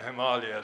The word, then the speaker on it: Himalaya: than Himalaya so uh I had gotten to put what they call this a macron a sort of line above the a the first a in Himalaya so that people might actually try and pronounce the name correctly it is of course from the Sanskrit Chima meets me snow and Alia means Abode Abode or area or region of snow